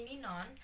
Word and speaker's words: Ninon: is but you can call me ninon and uh let me spell it for you november india november oscar november